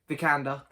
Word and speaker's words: Vikander: I can never pronounce her surname. I always get it wrong. Vikander, there we go.